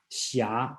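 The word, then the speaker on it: xia: s i h something like that is the pronounce the correct spelling in today should be x i a shia okay that means knight's errand so there's a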